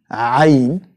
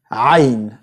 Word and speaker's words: عين: So عين, and pronounced and you can find it in the word عين. The sound of the word is the sound of the letter as it is, عين.